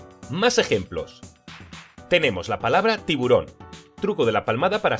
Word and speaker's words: tiburón: ejemplos tenemos la palabra tiburón truco de la palmada para separarlo en sílabas ti boron ahora vamos al truco del lobo tiburón lleva la fuerza de voz en la última sílaba si es aguda otro